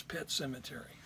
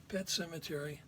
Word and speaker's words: Pet Sematary: Now, the one book that I haven't finished is Pet Sematary. Pet Sematary, spelled with an S.